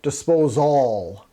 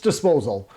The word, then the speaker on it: disposal: GE trademarked the term disposal well okay I'm saying it wrong it's disposal but they ended it with Al as in it disposes of all and I think nobody